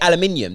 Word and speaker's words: aluminium: steel uh aluminium aluminium how do americans say it because we say aluminium they say aluminum in it that's it